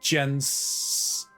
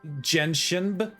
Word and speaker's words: Genshin: I think I'm going to turn on Jensen. Genshin.